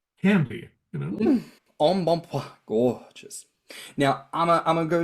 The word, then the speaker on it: embonpoint: you all are aware, that is pronounced embonpoint, which is perhaps plump in French. Means plump. And it's got to be one of the most fabulous ways of describing a fat bitch, like embonpoint.